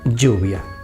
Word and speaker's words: lluvia: Y por último, si juntamos la doble L con la U, se forma you, la sílaba you, como la palabra lluvia.